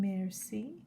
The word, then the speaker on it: merci: bouquet conceal exhausted fascinating merci means thank you and here's the pronunciation merci miserable remedy